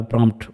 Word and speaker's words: prompt: এই যে প্রম্পট কথাটা বলছি বাংলায় আসলে এক্সাক্টলি এটা উচ্চারণ করতে গেলে প্রম্পট হয়ে যায়। ইংরেজিতে আমরা প্রমট বলছি।